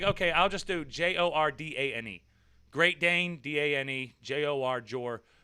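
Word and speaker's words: Jourdain: name really is uh people try to go like oh are you jordan jardin no i'm not french i'm american say it like jordan or they'll say oh are you jordan no it's j o u r d a i n jordan so i was like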